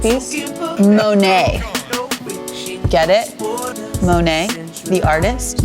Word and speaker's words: Monet: Monet? Did I say it weird? No, you said it right.